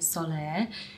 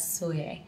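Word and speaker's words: Sóller: soye I realized that earlier I was saying it wrong when I was saying Soleil because my friend Teddy speaks almost fluent Spanish and she was pronouncing it as soye so we have arrived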